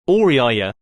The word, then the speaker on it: Auriaya: oriyaya watch the pronunciation patrols a large room with her four